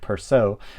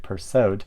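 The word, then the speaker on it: Persaud: way of uh ingrid perso but now you pronounce the d um so it is ingrid pursued um so yeah i've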